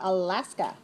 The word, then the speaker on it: Alaska: How about Alaska? Alaska. 3 syllables. Stress the second. 3-2.